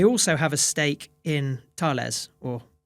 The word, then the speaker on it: Thales: They also have a stake in Thales, or Thales, as you would say it in English, but Thales is the pronunciation in French.